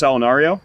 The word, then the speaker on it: Allunario: So my name is Allunario.